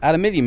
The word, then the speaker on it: aluminium: And whatever this is, aluminium, isn't it? Or aluminum, yeah, as Americans say.